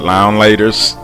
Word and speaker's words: Now and Later: top five nile laters some people pronounce it lounge laters now and later pineapple now laters